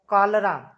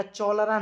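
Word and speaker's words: cholera: died dot डॉट डॉट कालरा कालरा पढ़ा जाएगा चोलर नहीं फ्रॉम ऑफ बाय विथ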